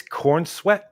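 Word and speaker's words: Corenswet: So, uh, how do you pronounce the lead actor's name? David Cornsweet. It's Cornsweet.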